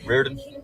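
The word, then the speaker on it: Reardon: Rearen. It's what? Rearen. Rearen. Can you spell that for me, please?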